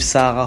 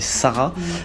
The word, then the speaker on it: Sahara: On est avec Sarah, donc bien que ça s'écrive Sahara, il faut prononcer Sarah, auteur de J'inspiration, sorti